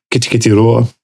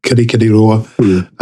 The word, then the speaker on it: Kirikiriroa: I see the same thing happening between Auckland and Kititiroa. Oh, sorry, I mispronounced that. Kirikiriroa, Hamilton, and Whangarei.